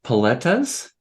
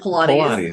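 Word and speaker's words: Paletas: it so you don't no it's poletas yeah so I said it right poletas the first time you kept calling it Pilates there's not Pilates we did not do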